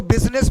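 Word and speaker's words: business: देखिए इसको क्या पढ़ेंगे, बुल पढ़ेंगे, इसको बुस पढ़ेंगे, इसको बिजी और इसको बिजनेस पढ़ेंगे।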